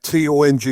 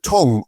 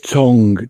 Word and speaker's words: Tonge: is your your surname T O N G E. Do you pronounce it tongue or tongue? It's tongue. T O N G E. Tongue. As in as in your mouth tongue, you know.